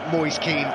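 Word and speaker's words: Moise Kean: this before the game it's been all sorts of debate how' you pronounce it Mo a Ken Moy Keen well the only video I can find of saying his name he says it Moy Keen so that's what I'm going well it's good enough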